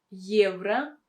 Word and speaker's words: евро: Here you have the sound Y that comes in the beginning, because this letter Y stands in the beginning of a word. That is why we should pronounce it with a combination of sounds Y and E.